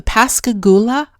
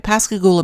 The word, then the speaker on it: Pascagoula: book under his own publishing company about the Pascagoula. I think I'm pronouncing it right. Pascagoula, Mississippi, is where the extraordinary case of ET contactee Calvin Parker took place back in the 70s.